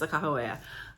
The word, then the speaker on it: Sacagawea: If you don't know who she was, or Sacagawea as a lot of people call her, I've been told that the correct pronunciation is Sakahawea.